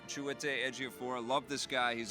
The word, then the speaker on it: Chiwetel Ejiofor: Chiwetel Ejiofor. Chiwetel Ejiofor.